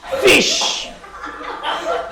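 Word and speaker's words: ghoti: Enough में जीएच को क्या प्रोनाउंस करते हैं? फॉर। वुमेन में आई ओ को विमेन तो आई। इंस्टीट्यूशन में टी आई को श। तो नेक्स्ट टाइम जब भी तुमको कोई बोले कि तेरे प्रोनाउंसिएशन में झोल है, उसको बोलना ये क्या है? गोटी, फिश।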